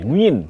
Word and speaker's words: Nguyen: Nah, kalau di tengah ini yang paling sering kita dengar Do Hung Duk, kemudian Nguyet Tuan An, Nguyen, bacanya Nguyen katanya, Nguyen, Wang Duc juga, dan